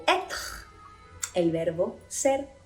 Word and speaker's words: être: Cuando la letra E tiene l'accent circonflexe, vamos a pronunciar esta letra como una E grave. Par exemple, fête, fête, fiesta, être, être, ser o estar, par exemple.